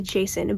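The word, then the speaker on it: Jacin: Jocelyn and winter okay I know his name is pronounced Jason but I I just like Saint Joseph it's like that that's his name to me Johnson so I'm gonna call him Jason winter was my favorite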